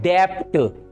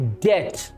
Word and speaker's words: debt: Right, बहुत से लोग इसे प्रोनाउंस करते हैं डेप्ट, डेप्ट, यानी बी साउंड को बीच में लाते हैं, डेप्ट। इट्स नॉट डेप्ट, इसमें भी बी साइलेंट है, it will be pronounced डेट, डेट।